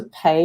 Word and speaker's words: Pei: It's just like the verb to pay in English.